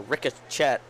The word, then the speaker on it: ricochet: it's kind of a ricochette I believe the correct terminology is a ricochet I say it like the word is read ricochette all right words now